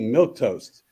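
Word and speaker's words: milquetoast: sells milk toast it's that's not how you spell it how you spell it Boys and Girls It's milk toast m-i-l Q e u e t o a s t milk toast yeah it's not like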